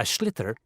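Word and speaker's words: sliotar: you have to get this ball called a schlitter that's s l i o t a r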